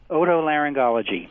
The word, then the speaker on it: otolaryngology: How do you pronounce that very long word? Otolaryngology. That's what I thought. All right. Otolaryngology.